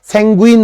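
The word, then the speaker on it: sanguine: স্যানগুইন আশাবাদী, স্যাঙ্গুইন বলে আর কি উচ্চারণটা।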